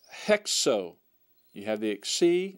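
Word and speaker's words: ἕξω: your book will have have the rough breathing mark and it should be pronounced hexo you have the ex letter there that's hexo hexo all right and that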